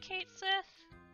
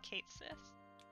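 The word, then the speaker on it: Cait Sith: I think you'll pronounce it Kate Sith? That's how I've always pronounced it anyway. I've seen things saying otherwise, but I've just always pronounced it Kate Sith.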